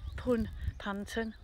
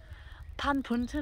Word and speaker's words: Panpwnton: at plum panton farm that's how you say it pun panton i think pan puntin actually no pam ponton and look at this